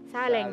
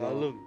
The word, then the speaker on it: salung: Saleng. Salam. Saleng. Saleng yun, pero saleng pero pag ano? Salung. Pag i-pronounce namin, salung.